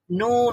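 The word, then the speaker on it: نون: ব্যবহার করতে হয় অবশ্যই জিহ্বার অগ্রভাগ তার বরাবর উপরের তালুর সঙ্গে লাগালেই নুন উচ্চারিত হয় বুঝতে পেরেছেন তাহলে এখন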